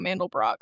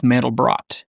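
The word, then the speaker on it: Mandelbrot: I have to point out to you that you're mispronouncing the cat's name. It is mandal brought like the fractal pattern.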